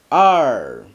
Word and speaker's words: 二: 2 is 二. The r here just making sure that you curve back your tongue slightly when you're pronouncing this word.